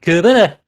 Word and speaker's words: Cerbera: So it's Cerbera, as they say.